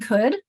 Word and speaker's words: could: El in word and could and should. With the. First two you can make the El connection to well and show as you don't hear it word could you don't hear that.